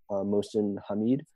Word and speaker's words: Mohsin Hamid: And I don't want to mispronounce the author's name, but I believe you'd say it, Mohsin Hamid.